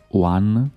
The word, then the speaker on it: Van: viaggio è continuato verso Vans o One perché la V ogni tanto la pronuncia non può come una u mi sembra da queste parti che è un paesino